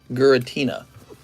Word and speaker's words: Giratina: Giratina, because it's pronounced with the gur. Giratina.